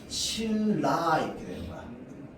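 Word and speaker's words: 신라: 자, 다음 뒤에 있는 리을이 앞에 있는 니은에 영향 줘서 최종 발음 어떻게 해? 실라 이렇게 되는 거야. 실라.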